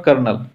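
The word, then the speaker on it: colonel: इसके बाद आएगा आपका कर्नल जिसको इंग्लिश में स्पेलिंग देख लो इसका कॉलोनल होता है तो ये है कर्नल और फिर लेफ्टिनेंट कर्नल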